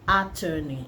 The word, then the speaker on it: attorney: that's not the pronunciation it is attorney attorney just as in attorney general so power attorney what